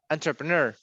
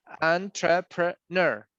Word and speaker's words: entrepreneur: It's not u, it's not e, it's like ner. Entrepreneur. Entrepreneur.